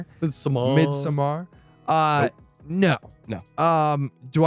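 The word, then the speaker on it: Midsommar: better than hereditary and mid-summer I said it wrong midsomar uh no no um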